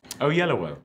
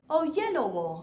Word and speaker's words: Oyelowo: you did very well how would you pronounce it oh yellow oh yellow it sounds so much